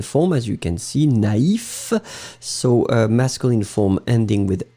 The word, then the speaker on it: naïf: But if you put the tréma, then it means that you will have to pronounce first A, na, and then separately you will pronounce the I. Naïf.